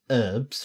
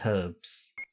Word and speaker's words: herbs: but once one says herbs like the H is silent for whatever reason and then we say herbs yeah I believe the